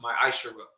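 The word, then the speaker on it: מעשר: verse 8 through ten means tenth in hebrew and is pronounced my i sure ten percent of every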